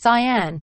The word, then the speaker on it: cyan: nicer color cian sorry not turquoise it is pronounced cyan oh another cyan bed this is mine now